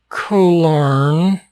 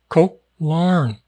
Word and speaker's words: Koh Larn: It's not Koh Larn. The Koh is pronounced a little bit abruptly, just a little bit abruptly. Koh Larn.